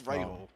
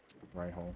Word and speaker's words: Rahal: It's Rahal. Ray Hall.